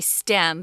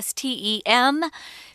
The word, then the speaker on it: STEM: are stem degrees and we don't spell that out guys you have to say stem because if you say ste em people in America at least won't know what you're talking about so learn to say